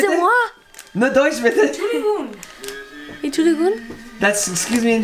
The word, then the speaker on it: Entschuldigung: Entschuldigung. Entschuldigung. No, how do I say? No stress. Kein Stress. Kein Stress. Okay, excuse me. No Deutsch, excuse bitte. Excusez-moi. No Deutsch, bitte. Entschuldigung.